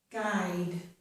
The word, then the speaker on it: guide: This is guide, we don't hear the U.